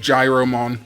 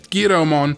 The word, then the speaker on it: Giromon: for this video, so I have really no reason to keep calling it Gyromon, other than it's what I read it as a kid when I saw it on a card or whatever, and it's just stuck with me. So I'm 100% going to try to call it Giromon going forward, which actually